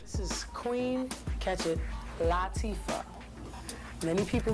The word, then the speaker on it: Latifah: This is Queen, catch it, Latifah. Many people mispronounce this name.